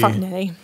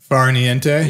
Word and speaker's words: Farniente: I mean, I guess I would say that like Neon, but like if you pronounce the T, it'd be like Niente. Yeah. Which is like Spanish.